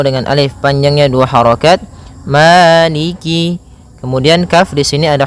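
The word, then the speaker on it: مَالِكِ: arahim ya en harakat arrahim kemudian Maliki yaumiddiniki yaumiddin pada bacaaniki di lafal Ma ada hukum tajwid berupa madii yaitu adanya fathah bertemu dengan alif panjangnya dua harakat Maliki kemudian Kaf di sini ada huruf kasrahnya maka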